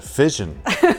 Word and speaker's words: Fission: vision with an app it's a fission okay like fish and sure i don't know